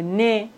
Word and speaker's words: nez: Le nez. Voici la quatrième et la dernière règle. Dans la langue française, on ne prononce pas le H comme si ça n'existait pas du tout.